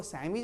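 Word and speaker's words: chemise: Chorus ये नहीं चौरस, कैरेक्टर नॉट कैरेक्टर, देखो दोनों में है, लेकिन अब बात है CH के बाद EM है तो भी इसको सैमीज बोलते हैं, समीज जो पहनते हैं हम लोग, सैमीज।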